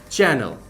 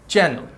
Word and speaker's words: Chanel: হ্যাঁ, সো it won't be Chanel, the proper pronunciation for this is চ্যানেল। আমরা যেরকম টিভির চ্যানেল দেখে থাকি, এটার প্রপার প্রোনাউন্সিয়েশন হয়ে থাকবে চ্যানেল।